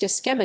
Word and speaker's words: Cxema: Cxema. Cxema, pronounced Skhema, is Ukrainian organizer of raves in urban spaces in Ukraine and Europe.